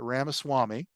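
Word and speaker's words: Ramaswamy: vibec I'm going to say his name right Rama Swami said in this Tucker Carlson interview he thinks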